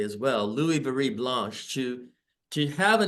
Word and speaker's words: Virieblanche: I was able to hear and thankfully you pronounced my name correctly as well Louis bie blanch to to have a name and to not